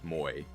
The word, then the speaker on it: Moi: Fun fact, uh I often have to go to an editing studio in real life called it's actually called Moy, but it's spelled Moi because it's not actually French.